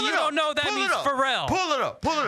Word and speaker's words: Pharrell: oh so you so me putting the emphasis on a different syllable makes you not know